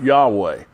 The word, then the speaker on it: Yahweh: And to the best of our knowledge, at least the people that speak conversational Hebrew that I have listened to, it's pronounced Yahweh.